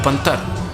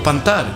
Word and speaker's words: pantar: mí para mí esto se llama panting o pan tal como ves es decir los hispanoparlantes eso es cantar es el verbo pronunciado sueco que significa yo reciclo pero pan tal con acento la segunda es una adaptación al